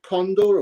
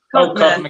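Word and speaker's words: Codnor: Is it Condor or Codner or? Codner. Castle.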